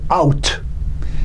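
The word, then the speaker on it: אות: The Hebrew word for word is out. It's spelled Aleph Vav Tav, or in English it'd be A-U-T. Like O-U-T, but A-U-T.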